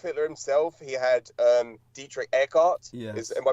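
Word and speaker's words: Dietrich Eckart: He had um Dietrich Eart is am I pronouncing that correctly Douglas?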